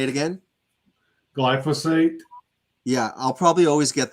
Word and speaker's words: glyphosate: he was saying that the glycos I always pronounce it wrong glycosphate or glyphosphate glyphosis say it again glyphosate yeah I'll probably always get that wrong glycos